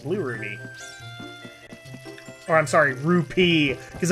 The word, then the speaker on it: rupee: i'm sorry rupee because apparently i was saying it wrong guys i say ruby all right i get it it's rupee i don't say it that way but it's p i believe it's correctly pronounced all right here we